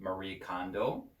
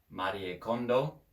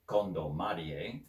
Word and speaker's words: Marie Kondo: Up with Kondo, um, or if you say it in a English or an American pronunciation, Marie Kondo. But yeah, Marie Kondo in Japanese, or really Kondo Marie, because in Japan they put their last name first and then their first name.